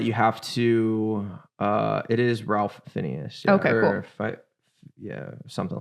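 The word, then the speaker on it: Ralph Fiennes: And so it is one that you have to, it is Ralph Phineas. Yeah, okay, cool. Something like that. I'll have to look up his pronunciation.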